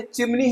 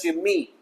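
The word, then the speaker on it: chimney: इस तरीके से चिमनी हम बोल तो देते हैं हिंदी में, लेकिन जी नहीं, बिल्कुल गलत है, इंग्लिश में प्रोनाउंस भी मत करना चिमनी, इट्स चिमनी, N silent हो जाएगा।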